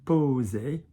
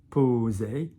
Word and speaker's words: poser: So for example, in a minute you'll see poser, poser, so with a single S, like a Z.